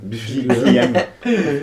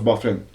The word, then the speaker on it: Byfuglien: Biffy Gluan. Lydiane. Quelque chose comme ça. Ah ouais, c'est drôle. Mais ça se prononce Byfuglien.